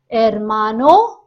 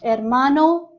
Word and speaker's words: hermano: Hermano and hermana. Hermano, brother. Hermana, sister. The sound of H is silent in Spanish. So it is not hermano or hermana. It is hermano, hermana.